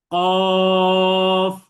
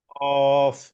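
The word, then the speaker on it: قاف: কফ। বলেন। কফ হ্যাঁ, কফ, তিন আলিফ টানতে হবে। কফ হ্যাঁ, দেখেন শেষে ফা উচ্চারিত হবে কফ।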